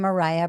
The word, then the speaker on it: Mariah: unquote my space I'm Mariah um it's pronounced like the singer and I'm a Yale